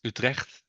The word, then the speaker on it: Utrecht: I'm the product manager and solution architect at Blackbird, and I'm based in the Netherlands, Utrecht, as you do correctly pronounce it.